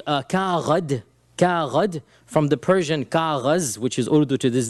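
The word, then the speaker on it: کاغذ: At that time, it was called Kaghad, from the Persian Kaghaz, which is Urdu to this day, Kaghaz.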